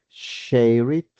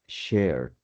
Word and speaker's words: shared: Entonces, ¿será que lo pronuncio shait o lo pronuncio shared o lo pronunció shared? La correcta es shared, es decir, la columna con.